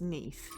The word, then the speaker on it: Neath: You see, I read that as Keith, and actually it's Neath.